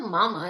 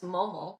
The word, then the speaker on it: Momo: It's not Mama, it's Momo. Momo.